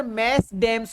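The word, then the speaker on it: mesdames: मैडम की spelling ये भी लिखी जा रही है, मैडम की स्पेलिंग ये भी लिखी जा रही है, लेकिन इसका प्लूरल सर मैस डैम्स होता है।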